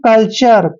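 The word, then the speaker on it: culture: आर ई आया है तो यू आर ई का उच्चारण आर करने वाले हैं यानी कि इसको पढ़ेंगे हम कल्चर क्या पढ़ने वाले हैं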